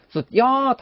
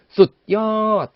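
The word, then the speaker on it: สุดยอด: 숫이라면 그냥 숫 정확히 해주자는 거죠. 어떻게요? 숫엿 하고 숫 부분을 의식적으로 딱 끊어주자는 거죠.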